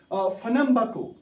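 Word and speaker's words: Pernambuco: उस नाव recipe RECIFE recipe समझ यह रेसिपी फनम्बको उसकी प्रोनाउंसिएशन है शाबाश यह फनम्बको ब्राजीलस बह कर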